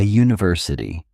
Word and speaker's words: university: A university, a uniform, a unit. In these cases, the U makes a J sound like the Y in U which is a consonant sound.